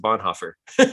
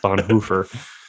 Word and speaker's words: Bonhoeffer: way on this episode we're going to pronounce it bonhoeffer is that the plan yes yeah good okay because i've never met anyone until you dropped that in the other podcast episode of bon hoofer i've never heard that before yeah uh-huh okay good i'm gonna have to get with my german-speaking cousin on that one and see which is the correct pronunciation okay we'll get